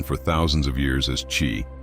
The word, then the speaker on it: Qi: First, let's turn to the East, where this energy has been known for thousands of years as Qi, pronounced Qi.